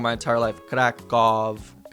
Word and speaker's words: Kraków: Sound the same? Always U. Dumny, grubas, Kraków. It will never Kraków. Oh, wow. Wow, I guess I've been saying Krakow wrong my entire life. Kraków.